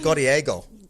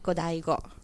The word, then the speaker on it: Godiego: Godiego. Well, it's actually pronounced Godaigo.